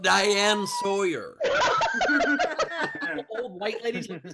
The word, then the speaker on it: Diane Sawyer: Oh, I think the Diane Sure, no involvement. That was her worst mispronunciation yet. It's pronounced Diane Sawyer.